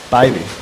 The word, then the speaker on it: Bybee: We got an official confirmation on the pronunciation of his last name. Yes. Bybee.